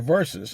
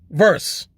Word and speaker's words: versus: That's an abbreviation for versus, and it's supposed to be pronounced versus. Here's the thing. Recently, in fairly recent times, I've been noticing a lot of people incorrectly saying verse, as in chapter and